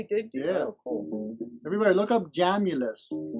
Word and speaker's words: Jamulus: somewhere oh jam you j-a-m-u-l-u-s like calculus but jamulus there we go all